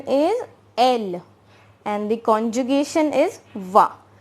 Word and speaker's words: elle: Its pronunciation is elle and the conjugation is va.